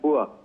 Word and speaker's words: bourse: ये जो आप बात कर रही हैं बोर्ड्स की, जिसे अंग्रेजी में BOURSE लिखा जाता है, लेकिन ये एक फ्रेंच वर्ड है जिसका उच्चारण है बुआ, और इसका मतलब होता है एक स्टॉक मार्केट, एक मार्केट प्लेस।